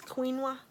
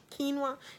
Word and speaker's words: quinoa: wanting to say it it's Queen wah quinoa quinoa that's what it is